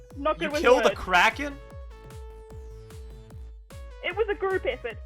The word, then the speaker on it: kraken: you killed uh what it was a crack crack i pronounced it wrong the first time okay uh kraken it was a group